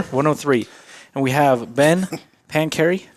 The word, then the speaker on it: Pancheri: and we have been pancary not panchieri from i would have